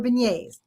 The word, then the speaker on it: beignet: So I was going to ask you in a kind of some rapid fire, gumbo or beignets or Oh, beignet.